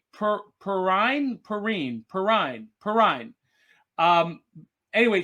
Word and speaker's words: Perrine: benefit valerie uh and i've been told i've been mispronouncing her name i'm going to pronounce it right perrine perrine perrine perrine um